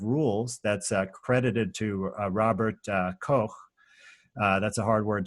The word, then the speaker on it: Koch: that's credited to Robert Koch uh that's a hard word to say but I try to say it in the proper German pronunciation and um it's just